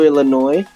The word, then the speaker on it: Illinois: The S is silent.